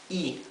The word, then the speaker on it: y: So this Y is pronounced I, ai, ai. This is a word by itself, means the end, right? A and D, the conjunctive word end. This is pronounced I, simply I.